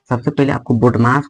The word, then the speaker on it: BODMAS: और ये प्रश्न जो है बोडमास का है। सबसे पहले आपको बोडमास को बनाने के लिए कुछ आपको रूल्स आपको पता होना चाहिए।